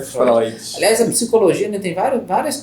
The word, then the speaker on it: Freud: o outro ponto é Freud ou Freud a pronúncia é Freud é o nome que vem do Alemão então escreve-se freio teu mas a promessa é Fróes essa psicologia tem vários